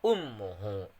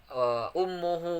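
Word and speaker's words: أُمُّهُ: Yang ke-14 ialah ummuhu. Apa sih tajwidnya ummuhu? Yaitu gunnah. Kenapa saya katakan gunnah? Karena mimnya ditasydidkan. Jadi gunnah itu yang berarti yaitu dengung kayak gitu. Yang ke-15 adanya lapad ummuhu wahnan.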